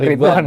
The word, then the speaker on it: Ridlwan: Jadi guys, Mas Ridwan ini, jadi agak susah nih pelafalannya. L-nya hilang aja. Oh ya, Nah, Ridwan gitu.